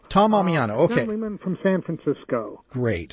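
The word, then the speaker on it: Tom Ammiano: thank you now I don't want to Mis mispronounce the representative's name so what is the name of the gentleman Tom Amano Tom Amano okay from San Francisco great introduced a landmark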